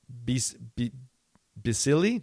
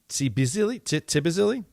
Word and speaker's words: Tbilisi: That would be Bisili, Georgia? Tbilisi? Perfect. Perfect pronunciation.